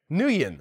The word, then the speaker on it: Nguyen: It's a Vietnamese name a few of my friends had it growing up, so that's the only reason why I know how to pronounce it. I've seen it a lot. I know it's a famous name, but in my mind, I'm just like, I want to pronounce all the syllables really hard.